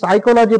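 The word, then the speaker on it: psyche: এ দেখো পরের দেখো পি এর পরে আবার এস আছে, যেমন এটা হচ্ছে সাইকি, সাইকি দন্তে সয়াকার হস্যই কয়েছে সাইকি।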